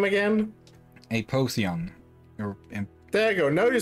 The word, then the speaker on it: Apotheon: Apotheon.